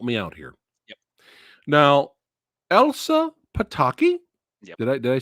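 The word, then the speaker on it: Elsa Pataky: Now, Elsa Pitakei.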